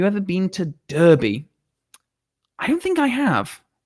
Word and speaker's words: Derby: It's pronounced Derby.